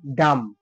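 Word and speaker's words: dumb: এর পরে কিন্তু ভয় নেই সেটা কি হলো ডাম ডাম বি এর উচ্চারণটা পুরোপুরি সাইলেন্ট থেকে গেল যেমন এল আই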